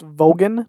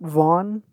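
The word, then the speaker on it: Vaughan: Vaughn terribly sorry but the name is actually pronounced vogan not Von vogan I may be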